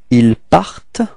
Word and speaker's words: il part: And then keep in mind that it's a bit tricky and it's a bit strange, but the final ENT is not pronounced, okay, it only gives you the possibility to pronounce the T just before, so you get the sound part, part, okay, so il part, alright,